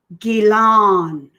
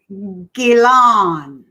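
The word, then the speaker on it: Ghislaine: Here's how you say her name. Gilan. Oh my God. Say that again, You're Mom. welcome. Mind blowing. Gilan.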